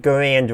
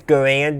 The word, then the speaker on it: Garand: And he says Garand, not Garand. No, he says Garand, not Garand. One is how most people pronounced it, and one is how the developer of the rifle pronounced his own last name, which is where the name comes from.